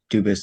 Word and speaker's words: Dubus: Dubus is the English pronunciation. Dubus is the original French.